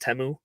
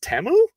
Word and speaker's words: Temu: learning that teu is not pronounced teu is pronounced temu because that's that was my biggest takeway from